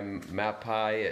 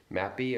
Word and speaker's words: Mapei: It's made by Mapei at Lowe's, M-A-E-P-I-E. Mapei or Mapei, they pronounce that.